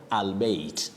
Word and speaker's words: albeit: Then the surprise word, Betty, many people would pronounce it the way it is spelled. And that is why you hear of albeit.